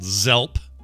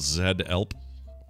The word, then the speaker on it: Zelp: company is called Zelp, is it actually called Zed-Elp? No, because you're not spelling it. It's only Zed when you say the letter. Okay, so it's always pronounced like Z. Z.